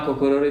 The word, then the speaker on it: Gugururu: Dan nama Gugururu itu sendiri sebenarnya itu ejaan ya, jadi G-U-G-R-U-R-U. Jadi kalau dibaca memang Gugururu.